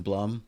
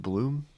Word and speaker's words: Blum: Is his last name pronounced Bloom? No, it's Blum.